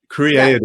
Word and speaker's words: Creaity: Creaity.